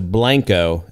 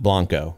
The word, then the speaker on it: Blanco: And if you were, you know, it's just kind of like if we're going up to real ale, we'd be going up to Blanco and not Blanco.